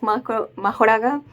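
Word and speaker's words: Mahoraga: know I know that it's commonly known as Mak muraga but I'm GNA keep calling it makura because that's just that's literally how you can hear them uh pronounce it so yeah but yeah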